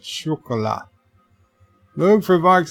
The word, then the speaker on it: chocolat: Chris Perzer says, Luke, you should have told Bird it's pronounced with a SH at the start, phonetically making it chocolat.